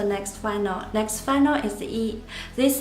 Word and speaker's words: 一: The pinyin is written as yi instead of I. We put y in front of I, but it's still pronounced as E.